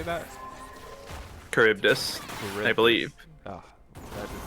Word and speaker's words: Charybdis: Charybdis, I believe. Oh, that is not how that looks. But Charybdis getting some positive traits here onto OP Ivy.